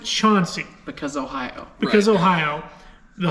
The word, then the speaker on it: Chauncey: actually spelled Chansey c-h-a-n-c-e-y the locals pronounce it Chauncey because Ohio because Ohio